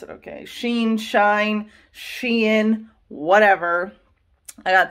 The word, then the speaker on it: Shein: I just got some things from, you guys, I don't know how to pronounce it, okay. Shein, Shine, Shein, whatever.